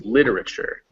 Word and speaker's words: literature: the primary one so because it's here in front of lit we know this word is literature and not for instance literature or literature it's literature literature and let me